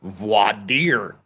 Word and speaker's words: voir dire: Well, the Oxford Dictionary seems to say it's voir dire, but so there. Voir dire. Voir dire. They pronounce the R.